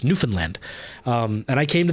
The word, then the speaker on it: Newfoundland: when they find out it's not Newfoundland that it's Newfoundland um and I came